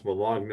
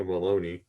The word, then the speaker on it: bologna: It's like those idiots who pronounce Bologna baloney.